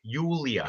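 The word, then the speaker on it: Julija: That's how you pronounce the J. Yulia.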